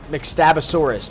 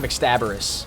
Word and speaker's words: McStabosaurus: McStabosaurus. McStabosaurus. Not McStabberus.